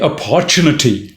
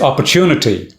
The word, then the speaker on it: opportunity: For instance, you don't say opportunity like most of the Indians do. I've heard them. It's opportunity. That's a word stress.